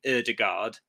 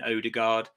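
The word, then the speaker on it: Ødegaard: English the English have a funny way of pronouncing uh Scandinavian names it's why a lot of English people call Martin erdogard Martin Odegaard and we had erstegard a lot of people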